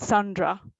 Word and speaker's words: Sendra: will pronounce it differently in france i was called sandra and since i was a kid i didn't really bother i felt sandra because in france you've got e n it's it's pronounced o and it doesn't make any difference e n or a n um some people just pronounced the same same way so i was called